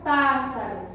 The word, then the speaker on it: pássaro: Então vamos analisar a palavra pássaro, que foi a única que nós encontramos. Então aqui, ó, a gente percebe a presença de um acento. Então aqui já tem um indicativo de qual é a minha sílaba tônica, a sílaba mais forte. E aqui, ó, pá, vai ser a sílaba tônica.